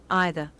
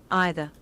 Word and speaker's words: either: E라고 발음하는 사람도 있지만 I라고 발음하는 사람도 있어요. 그래서 either, either, either 이런 미국 발음 혹은 either, either, either 이런 영국 발음 또 중간이 섞여서 either, either, either 이렇게 얘기하는 사람들도 있거든요.